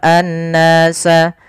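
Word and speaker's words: النَّاس: Kemudian pada lafal an-nasa di sini ada alif lam syamsiyah, yaitu alif lam yang kita tulis tapi tidak dibaca, langsung ke huruf nun yang tasydid.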